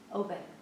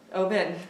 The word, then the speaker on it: Oben: I said his name wrong. Oben. Oben.